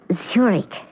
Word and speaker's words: Zurich: Zurich? That's pronounced Zurich, as in the Swiss city.